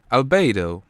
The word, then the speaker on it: albedo: Albedo, pronounced as albedo in Latin, means white color, whiteness, or progression of being white.